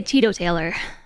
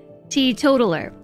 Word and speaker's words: teetotaler: this all the time I just really want to say Tito Taylor that's just clearly not how that's pronounced t totaler t totaler that's it she total her right